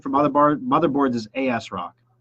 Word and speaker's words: ASRock: other bar motherboards is asrock say that out loud with me everybody phonetically you're gonna read it capital a capital S Rock if you're Christian mindset you would say as rock yeah you guys get